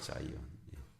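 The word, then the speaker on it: Zion: 그 성전산 중에 일부가 시온이라고 여겨지던, 영어로 자이온이라고 이렇게 발음해요. 자이온.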